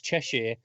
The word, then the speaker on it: Cheshire: sure because I knew both of you guys pronounce it Cheshire its Cheshire and if she's a recurring character would get